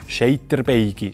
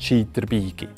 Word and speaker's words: Scheyterbeygi: Eine Nidwaldnerin erkennt man gut am Ei, also Scheiterbeige statt Scheiterbeige.